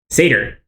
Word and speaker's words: satyr: Satire, however you pronounce that. Satyr.